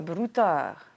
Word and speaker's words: broutard: Un broutard. Un broutard. Alors, ça s'écrit un broutard, mais on dit un brouta.